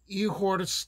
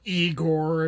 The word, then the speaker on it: Igor: nerve to tackle and that's the tale of ehor campaign or eigor if you're pronouncing it like Americans do and it's an